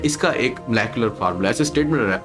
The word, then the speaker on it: molecular: दोनों प्रोनाउंसिएशन है, मतलब बेसिकली इंग्लिश में तो मोलेकुलर ही होता है, पर हम अपनी लैंग्वेज में इसको सिंपल मॉलिक्यूलर कह सकते हैं।